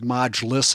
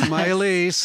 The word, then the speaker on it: Mylese: So right from the very beginning, Mylese, who I called Modulus, I think the first time. Nice. That's not how you say it. It's Mylese.